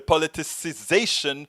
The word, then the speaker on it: politicization: shock most the policy politicization you know I always missed this word because it has an extra syllable that I always kind of forget to put in the politicization of kovat 19 is